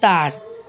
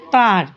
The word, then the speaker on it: তাঁর: তাদেরকে আবার যখন চলিত ভাষায় বলি তখন তাঁর, এই উচ্চারণে তয় চন্দ্রবিন্দু, তাঁর, নাকে উচ্চারণ তাহার, তাঁর।